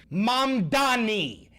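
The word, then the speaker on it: Mamdani: Mami say things, Mam Dani, M A N D A N I. Learn how to say it, He's going to be your new god king.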